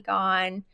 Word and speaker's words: Gaughan: I'm Jackie Gone.